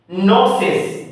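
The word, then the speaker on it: gnosis: दिया डिस्ड कर दिया नोसेस जी साइलेंट है जी का उच्चारण नहीं करेंगे इसलिए इसको पढ़ेंगे नोसिस सच्चाई का ज्ञान न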